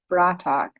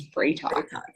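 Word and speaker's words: Bra'tac: to pronounce it um teal and clarel say bratac and jack says brayton yeah yeah and i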